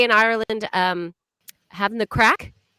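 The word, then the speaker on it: craic: with mr we've nearly finished the show good crack uh is producer set we'll spell c-r-a-i-c so it's even spelt differently everyone yeah there you go craig is how i would pronounce it if i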